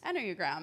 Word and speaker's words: Enneagram: And correct me, I'm pronouncing this correctly, yes? Yes. Enneagram.